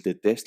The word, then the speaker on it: détestent: We've added an nt to the ending, but the pronunciation is identical.